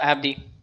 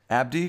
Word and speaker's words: Abdey: my my guest how do you say your last name oh it's just uh Abdi Abdi Abdi for being online with